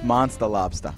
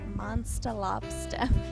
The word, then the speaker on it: Monstah Lobstah: No, it's Monstah Lobstah. Monstah Lobstah. That's the New England accent right there.